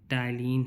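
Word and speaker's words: ptyalin: Salivary amylase is also called तो ये हमारा ट्रिप्सिन है, टलीन है, पेप्सिन है, लाइपेज है। तो हमारा क्या हो जाएगा? टलीन। ठीक है? टलीन हमारा ये हो जाएगा। इसमें पी साइलेंट है हमारा।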